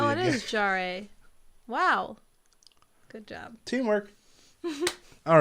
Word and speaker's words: Jarre: Jarre?